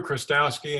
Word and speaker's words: Chrostowski: And here we have our guest, Andrew Chrostowski. And I'm sorry if I butchered your last name. Welcome to the program. And how do you pronounce your name? Thanks, Sammy. It's great to be here. Andrew Chrostowski, and it's a pleasure to be with you